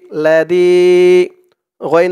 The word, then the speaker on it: لديغا: দোয়াটি এখানে শেষ করার কারণে এখানে উচ্চারণ হবে লাদিগ, লাদিগ। থামার কারণে এই গয়নের উপর দুই জবর আছে, দুই জবর থেকে এক জবর বাদ হয়ে যাবে, এক জবর বাদ হয়ে এক জবর দিয়ে এক আলিফ টান দিয়ে পড়তে হবে। লাদিগ, শুধু থামার কারণে, অক্ফ করার কারণে।